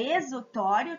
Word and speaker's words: exutório: é denominado o exutório a gente escreve este o tório mas a gente pronuncia exutório tá o nome da Fronteira